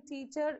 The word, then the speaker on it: teacher: first syllable okay so correct the way of pronunciation teacher is teacher okay the first syllable should be stressed more and the second syllable should not be stressed it is teacher okay that's how you have to pronounce correctly so what is